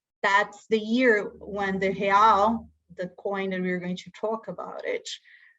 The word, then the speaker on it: real: Brazil currency is called the real, pronounced real.